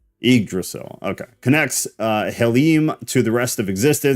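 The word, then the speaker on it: Yggdrasil: you say it yrail just replace the Y with an i igdrasil okay connects uh helim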